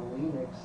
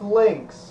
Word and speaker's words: Lynx: It's not Linux. How is it pronounced Lynx?